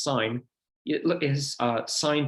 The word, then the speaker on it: sine: on a basic calculator you can see above the sin button actually pronounced sine it look is uh